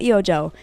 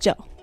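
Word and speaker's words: eiojoo: again saying it wrong it's not EO Joe it's just Joe cuz the E and the O are silent cuz it's it's just Joe written forwards and then backwards I didn't explain it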